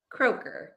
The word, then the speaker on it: Kroeker: help me with your last name how to pronounce it kroer oh kroer this is easy I thought like